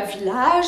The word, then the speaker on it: village: Non, le age ne se prononce pas age. Alors, comment est-ce qu'on le prononce? Je vous mets la transcription. Village. Pareil, le A redevient un petit I.